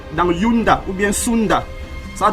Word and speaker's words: Yunda: Sunda, mais en vieux Kikongo on disait Yunda. Yunda, Y-U-N-D-A. D'autres prononcent ça Zunda.